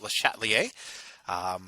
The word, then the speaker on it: Le Chatelier: That's how you pronounce it, Le Chatelier.